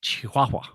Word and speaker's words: Chihuahua: It's Spanish, so it's pronounced Chihuahua.